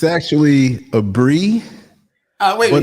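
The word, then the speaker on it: Aburi: I've been saying Abori. It's actually a Bree.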